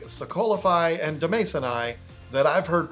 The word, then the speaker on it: Demasoni: So I guess I'll take the L there, but it's definitely Demasoni.